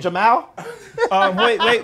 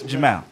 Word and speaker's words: Jamal: Jamal's an Arabic name. In Arabic, we don't make the sound mal. That's why it's Jamal.